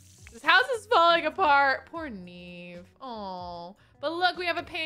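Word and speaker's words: Niamh: Yes, it would be a V sound at the end. Neve. In Gaelic. No! M-H equals a V.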